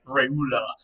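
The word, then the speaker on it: reule: It comes from this Old French word, which would have been pronounced something like reula or something like that. Now, that's, again, not how you would pronounce that word today if you saw it in French, but that's probably how it would have been pronounced in Old French.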